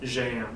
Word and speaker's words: Jaen: It does have a Portuguese equivalent called, how do you pronounce it, Mr. Jaen. Jaen, very nice.